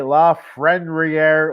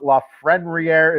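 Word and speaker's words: Lafrenière: If you didn't watch the episode the other day on Saturday, trying to say La Frenriere, well, there's an N in there. Throws everything off. La Frenriere is Alexis.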